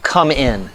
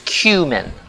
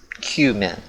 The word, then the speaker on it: cumin: we're talking about Cuban a lot of people pronounce that come in like come in help me pronounce this difficult word no it's cumin like it's Q min cumin not coming don't say coming that's disgusting actually